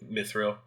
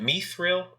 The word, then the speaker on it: mithril: and Is it mithril or mithril? I think either way goes. Okay. To be honest, it seems like the elves were saying Mithril and the dwarves were saying Mithril.